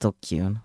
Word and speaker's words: DQN: Pronounced Dokyun, a thug, bully, or someone who's part of the dregs of society.